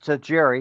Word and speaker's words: Tajiri: Well, I can pronounce Tajiri because, you know, it matches up with the the wrestler, but Satoshi Tajiri.